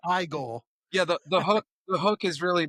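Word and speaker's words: Igor: It's pronounced Igel.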